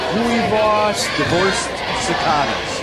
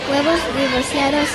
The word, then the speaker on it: huevos divorciados: I think I'm going to try the huevos divorced cicadas. Huevos divorciados it is.